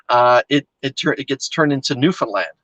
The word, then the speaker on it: Newfoundland: it gets turned into Newfoundland. And I would say new, fin, F-I-N, and then land.